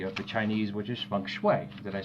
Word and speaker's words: feng shui: should say philosophy of the Chinese which is feng shui did I say it right feng shui there you go feng shui is a physical